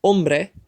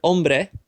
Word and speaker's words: hombre: in vegan on play the word ends with a vowel which means that the second last syllable is emphasized and in the word hombre it is the second last syllable to emphasize it's the own part so we don't have